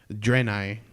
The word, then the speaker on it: Draenei: know what they're called raining Draenei is how you pronounce it okay they're like those